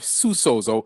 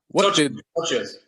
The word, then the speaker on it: socios: Have you been so Florentino Perez and the Barcelona president get Barcelona into this, but they have Susos. I'm pronouncing it wrong. Socios.